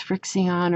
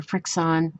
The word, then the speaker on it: FriXion: And it's Frixion or Frixon, however you want to pronounce it.